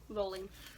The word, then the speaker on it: Rowling: How's it pronounced? Rolling.